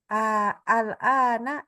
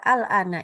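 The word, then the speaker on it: الآن: Nah, di sini jadi kata al-ana ini tidak boleh al-ana bacanya tentunya, tapi al-ana. Gitu ya. Bacanya dipanjangkan.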